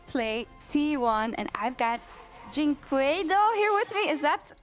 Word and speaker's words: dyNquedo: Pain is about to play T1, and I've got dyNquedo here with me. Is that correct pronunciation?